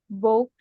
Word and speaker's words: bought: She has bought Nah, tadi bought cara bacanya gimana? she has bought Bought. bought Ya, GH-nya nggak usah dibaca.